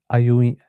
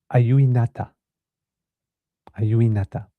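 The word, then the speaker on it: ajuinnata: don't give up and I've got the proper pronunciation. Auinata, a yuinata, which represents perseverance, strength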